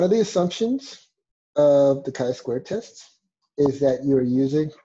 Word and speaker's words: chi-square: So in case you're wondering if you read the book already, it's not pronounced chi-square or chi-square, it's pronounced chi-square.